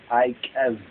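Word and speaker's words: Eikev: It's spelled Ikev, but actually it's Ikev.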